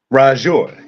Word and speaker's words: RaJuR: Forgive me if I say your name wrong, but RaJuR? RaJuR, yeah, that's it.